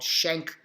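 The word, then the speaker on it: Schenck: First Amendment a pivotal Supreme Court case called shank versus United States I'll spell it for you here s-c-h-e-n CK shank vs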